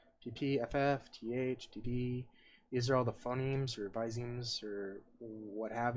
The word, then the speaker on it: phonemes: word it's like phonemes i always call it phenomes but it's not it's phonemes i think so we're